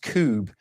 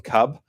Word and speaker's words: Kubb: it's about k-u-b and I think it's actually pronounced Cube rather than Cub um but I've always